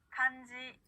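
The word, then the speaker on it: かんじ: 자, 이번에는요, 한자라고 하는 일본어 단어, 자, 응 뒤에 지라고 하는 사행의 글자가 왔죠? 그랬을 때도 니은 받침처럼 소리가 납니다. 한번 따라해 볼게요. 간지, 간지, 간지.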